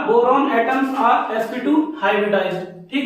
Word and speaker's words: boron: बहुत फर्क है इसमें। इसकी स्पेलिंग होती है BORON और इसकी होती है BORAN। डाइबोरेन पढ़ते हैं इसको पढ़ते हैं बोरॉन।